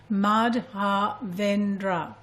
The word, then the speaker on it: Madhavendra: Well, if you break it down into 4 syllables, it's Madhavendra. Madhavendra.